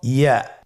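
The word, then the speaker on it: ياء: পরবর্তী হরফটির নাম হলো ইয়া। পরবর্তী হরফটির নাম ইয়া। পরবর্তী হরফটির নাম কি? ইয়া। ইয়া হরফটি উচ্চারণের ক্ষেত্রে বারিক হবে এবং 1 আলিফ টেনে পড়তে হবে।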